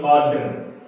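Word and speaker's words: القدر: Nah, berbeda dengan dua ini, karena ini adalah huruf qalqalah dan ini juga huruf qalqalah, jadi harus dipantulkan. Lailatul qadr, matla'il fajr, jadi harus dipantulkan. Dua huruf ini harus dipantulkan dan sisanya itu nggak boleh dipantulkan.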